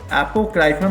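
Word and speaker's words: apocryphal: एपोक्राइफल में देखो, आप क्राई प्लस राइफल। अब इसको प्रोनाउंस करते हो, देखो वर्ड आने, आप क्राई प्लस राइफल। आप क्राई करोगे मेरे पास राइफल है, मेरे पास राइफल है।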